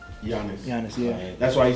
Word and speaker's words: Giannis: freestyle shit, half main, half cocaine, palm olive, flat tummy tea, and is it pronounced Giannis? Giannis. Giannis, yeah. That's why he said the G is silent like Giannis.